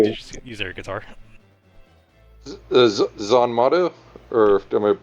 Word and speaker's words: Zanmato: Zanmato? Or am I mispronouncing it? No, Zanmato?